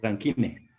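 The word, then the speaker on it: Rankine: grados ranc ranc también Sí muy bien rancang se escribe Así me corrige con k ranquine ran ranquine así muy bien también hay grado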